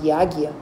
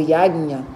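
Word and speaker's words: यज्ञ: Alguém aqui já participou de um treco chamado Yagya? Ou Yagnya, dependendo da forma do lugar onde como vocês pronunciam?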